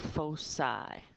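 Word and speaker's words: foci: call those points Focus points um plural is pronounced fosi f o c that's the plural of focus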